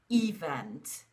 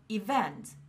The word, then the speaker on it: event: For a few years, I was convinced that the word event should be pronounced as event. After a few years, I realized that it wasn't event, but event.